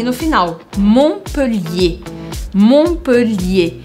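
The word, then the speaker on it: Montpellier: em francês Como assim algumas letras a gente escreve mas a gente nunca pronuncia por exemplo na cidade montpelier eu nunca poderia falar em francês montpelier montpelier nem sei como é que falaria Mas a gente sempre faz desaparecer o t e o r no final montpelier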